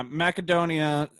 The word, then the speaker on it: Macedonia: Yeah, Macedonia, Athens, Sparta. Soft C. It's not a macadamia nut.